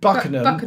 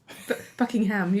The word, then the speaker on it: Buckenham: So I did Buckenham in Norfolk with my friend Will. Buckenham. Has it said? Buckenham. What did I say? Buckingham. Buckingham. You were pronouncing every syllable.